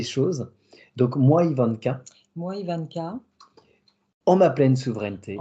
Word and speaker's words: Yvanka: Et d'ailleurs, je dis Ivanka, mais comment ça se prononce exactement? Ivanka. Ivanka, bon bah, super.